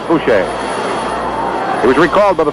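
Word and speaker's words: Bouchee: Coming up to the plate now will be Ed Bucci. He spells his name B-O-U-C-H-E-E. Edward Francis Boucher, or Bucci. I think the pronunciation for his name actually is Boucher.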